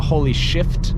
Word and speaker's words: Holy Shift: Everybody in the Mark 8 GTI Facebook group seems to switch to the holy shift knob. See how I pronounce the F, because I believe that's how it's supposed to be said.